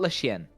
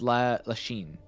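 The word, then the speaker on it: Lachine: Lach it's not La Chienne. La Chienne is French for dog. It's La Chine.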